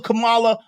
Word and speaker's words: Kamala: Kamala Harris comes out with her no taxes.